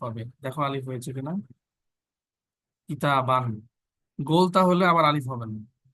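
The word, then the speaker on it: كتابًا: কিতাবান। গোলতা হলে আবার আলিফ হবে না, এখানে নাই, কিন্তু কলামান আলিফ হবে। তারপরে হচ্ছে জিদারান আলিফ হবে। এই কথাটা মনে রাখতে হবে, লেখার ক্ষেত্রে এটা প্রোনাউন্স হবে না।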